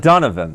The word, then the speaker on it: Donovan: donovan yeah it's not pretend that's how you pronounce my name donovan donovan yeah and i've never called you that